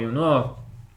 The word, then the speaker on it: Yongnuo: This actually is a Chinese name. You can spell it in Chinese. You can just understand. If you know Chinese, you know how to say it by looking at this. It's two words. It's Yong and Nuo. Literally, it means forever promise.